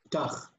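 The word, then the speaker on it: פְּתַח: when you were pronouncing it, I don't know if it was my hearing You're going to pronounce it as if it's not there.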